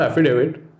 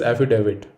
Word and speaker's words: affidavit: next word is affidavit no it is not affidavit rather the correct pronunciation of this word is affidavit with a d not a d the next